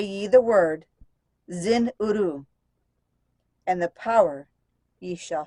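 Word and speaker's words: Zin-Uru: power in its sound say ye the word Zin uru and the power ye shall find that's z-i-n hyphen you are you which to me is pronounced Zen uru yet must ye understand that man is of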